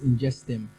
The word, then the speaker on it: Ingestum: um two so yes this ingestion is actually pronounced in just them all right and um yeah okay ingestion is